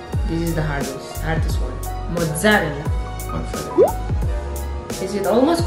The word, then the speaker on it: mozzarella: If I say mozzarella, is the same? No. You have to put double Z.